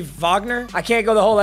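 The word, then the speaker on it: Wagner: got Kyrie Jamal Murray is it Vagner he's German right so which should technically be Vagner I can't go the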